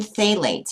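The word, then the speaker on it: phthalates: you're tasting Plastics contain phalates and you pronounce that with the pH silent you may have heard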